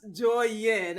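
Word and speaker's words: Douyin: 2016 so you know tik tok in chinese is called joyin i i'm pretty sure i'm not saying that correctly or pronouncing that correctly twins right so you know exactly so so it's pronounced joy yin uh so yeah that's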